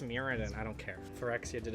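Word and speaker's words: Mirrodin: bitter because they killed muraden my favorite plane never really in the comments I mean it's pronounced muradin I don't care forexia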